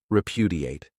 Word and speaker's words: repudiate: This verb has 4 syllables, and the stress is on that second syllable, repudiate.